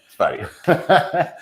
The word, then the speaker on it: Sverige: Yeah, Sverige.